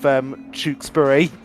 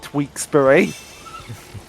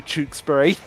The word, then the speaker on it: Tewkesbury: Wait, by the way, speaking of which, one of my favourite Tekken mispronunciations has always been for the town of Tewkesbury. Whenever he's played Judas of the Wolves, he calls it Tweaksbury. Because it does sound like that when you first see it, but no, it's actually Tewkesbury.